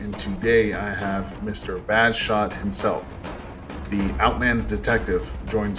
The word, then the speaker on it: Bajshot: got the name from, Bash. All right, so it's actually Bajshot, but you can pronounce it any way you want, truthfully, because I